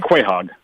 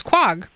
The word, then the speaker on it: Quogue: made me laugh and just saving the world quite hog yeah and but I always pronounced it as Quogue right but as you were saying the word